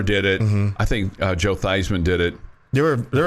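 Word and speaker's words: Theismann: I always like Joe thyman I liked him I liked him as a commentator right right his name was Joe theeman at Notre Dame and he changed his name to rhyme with Heisman because he thought he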